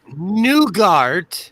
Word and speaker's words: nougat: streams okay so it's nougat nougat what is it there's no you do not pronounce the t no but it's you